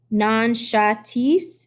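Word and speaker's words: Nankhatai: Nankatis, I said. Nanshatis, she says slowly. Her pronunciation is perfect.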